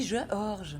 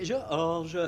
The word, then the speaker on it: Georges: l'université, et son mari Georges. Oui, Georges. Nous autres, quand t'as un E dans ton nom, ben je m'excuse, on le prononce.